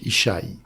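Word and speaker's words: ישי: C'est un yode, un chin et un yod. En hébreu, cela se prononce Isachai.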